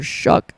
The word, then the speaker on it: Shuck: You got JB Shook. Or Shuck. It's spelled Shuck, but they pronounce it Shook in the game, so I don't even know.